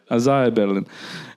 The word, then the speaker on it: Isaiah Berlin: Isaiah Berlin.